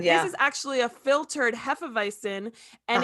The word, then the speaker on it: Hefeweizen: Now, if you drink the we say Hefeweizen, that's the way you pronounce it.